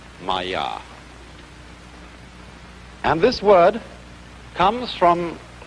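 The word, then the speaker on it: माया: I'm going to write that down for you pronounced Maya and this word comes from a root in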